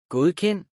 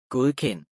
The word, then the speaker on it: godkend: Another situation where the D sound is silent is when it is a part of a combined word like Ordbog. Ordbog. Udsigt. Udsigt. Godkend. Godkend.